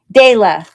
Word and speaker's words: Dahlia: Dahlia. Is that how I pronounce it? Day, like the day of the week? Dahlia? I don't know. I might be butchering that, but anyways. Okay. Dayla. Got it.